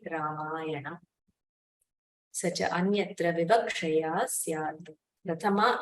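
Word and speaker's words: Rāmāyaṇa: You don't have an option to say Rama ayanam. You have to say Ramayana.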